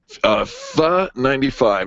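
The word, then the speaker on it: Phở: Howie writes in, and Howie's from Superior, Colorado, says, FA95. Now, you probably thinking, what did you just say? FA95. You might read it as FO95, but it is pronounced FA.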